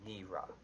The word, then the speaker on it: Nira: Like Neera. Okay, say that again so I can get it. Her name is pronounced as if you're saying it with an N and two E's. Neera.